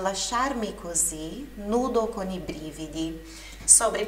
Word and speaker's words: brividi: Nudo con i brividi, nu com os arrepios. Nós tendencialmente leríamos essa palavra brividi como brividi, né? Mas a pronúncia é brividi, ok? Brividi, sílaba tônica, sílaba forte na primeira sílaba.